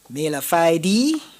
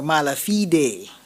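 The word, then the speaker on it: mala fide: This word has two pronunciations. Malafide or malafide?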